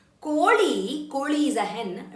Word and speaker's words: ಕೋಳಿ: Koli is a hen. When you pronounce li, your li has to touch upper palate of your mouth. Koli, not Virat Kohli.